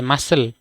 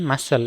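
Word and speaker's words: muscle: ইউ এস সি এলই মাসেল এম ইউ এস সি এলই মাসেল এখানে কিতা উচ্চারণ সাইলেন্ট আছে এখানে কি সাইলেন্ট সি সাইলেন্ট ঠিক আছে সি সাইলেন্ট মাসেল তারপরে মাসেল মানে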